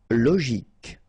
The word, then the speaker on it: logique: Logique, remember, Q-U-E at the end, K, logique.